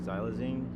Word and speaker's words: xylazine: fentanyl on to now the new things like xylazine I think is how you pronounce it that's the tranquilizer right yeah it's